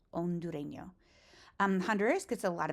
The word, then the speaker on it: hondureño: Again, with a silent H, Hondureño.